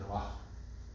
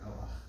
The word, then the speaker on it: Noach: The accent is on the no. Because we know his name isn't Noach. It's Noach. Question about that? Accent on the first syllable, darga on the first syllable.